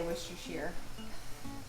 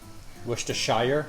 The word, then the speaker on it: Worcestershire: How do you say Worcestershire? Worcestershire.